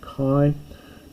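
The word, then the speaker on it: καί: Kai, this would actually be ke in proper pronunciation, but I'm going to say kai, aphes, hemin, ta, now long word here, fail le mata.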